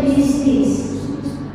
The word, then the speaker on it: business: kata ini nah Nah, bisnis tulisannya business ya, tapi bacanya bisnis.